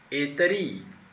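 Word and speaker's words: الطريق: De novo, nós temos aqui uma consoante sol, não se pronuncia. Geralmente, as consoantes sol, as consoantes que a gente chama, né, de letra sol, são sibilantes e aquelas letras que são lingodentais, né? A gente coloca a língua no dente quando a gente pronuncia, no caso de Etari, Etari.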